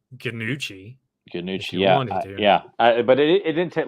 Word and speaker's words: Gnucci: or well because it's it's spelt uh gnu cci yeah so i guess you could say ganuchi yeah but it didn't